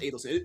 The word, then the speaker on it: Adelson: It's pronounced Adelson. But we think it's Adelson because we've seen Rick Adelson. It's spelled the same way. But it's Adelson, actually.